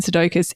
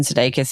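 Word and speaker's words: Sudeikis: For those who aren't playing along at home, Jason Sedokus is Ted Lasso. I think if you don't know who Jason Sedakus is.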